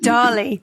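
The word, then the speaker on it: DALL-E: that one where Dolly. Dolly. I think I think yeah, as in Salvador Dali, but I think they I think they spell it d a l l e.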